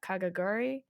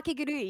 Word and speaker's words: Kakegurui: Kagaguri. Oh, Ka- Kakegurui, yeah.